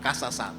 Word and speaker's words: Kezazah: Apréndese esa palabra, casas. Así como se escribe con K y termina en H.